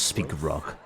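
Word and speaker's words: Spikeroog: So it is pronounced as Speakerrog.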